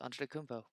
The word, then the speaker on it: Antetokounmpo: That it's like holy shit, word's actually not that hard to pronounce. Antetokounmpo.